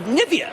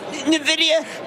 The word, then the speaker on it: Nvidia: it looks like it could go the way of of Nivea no Nivea Nvidia no come on let's get